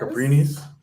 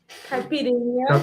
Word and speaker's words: caipirinha: Caprinis? Caipirinha. Caprinia?